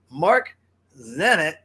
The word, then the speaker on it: Marzenit: the virtual studios in Seattle Washington and that's Mark Zenit I said it right yeah yeah I think I said I got it right Mark's at it coming in from Barcelona for the DJ sessions